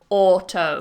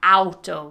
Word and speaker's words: auto: It goes the same for words starting with auto. Yeah. Like we don't say auto, we say auto. So just watch that you're not pronouncing it with that diphthong, but with an or.